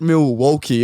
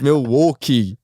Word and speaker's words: Milwaukee: It's not Milwaukee, it's Milwaukee. He goes, if they're your sponsor, say it properly, mate.